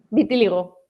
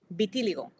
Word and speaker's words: vitíligo: visto entre la psoriasis el vitilio cómo lo pronuncias vitíligo vitíligo siempre me hago con esa palabra has visto